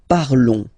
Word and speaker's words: parlons: Nous parlons, okay? Remember, final S is not pronounced, okay? And then this on together, they will give you the sound on, okay? Nous parlons, all right?